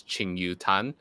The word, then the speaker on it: Ching Yu Tan: me okay on Facebook my name is Ching Yu tan so that's c-h-i-n-g-y-u-t-a-n and you pronounce it as like kaching you okay your find me